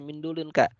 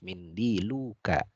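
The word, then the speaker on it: منديلك: Nah, ini salah ya, nggak boleh mindulun ka, harus mindiluka ya.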